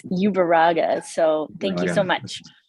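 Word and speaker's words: Ueruaga: there Hi I apologize in advance if I mispronounce your last name it's great no worries it's ubera so thank you so much for the time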